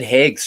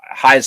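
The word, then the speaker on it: Haigh's: knows about High's oh I said hag's chocolate didn't I high as chocolate yes that's right it it was 20 some years ago it is high as chocolate right a big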